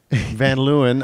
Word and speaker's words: Van Leeuwen: yourself hi i'm van lewin i will just say the american pronunciation yeah yeah yeah well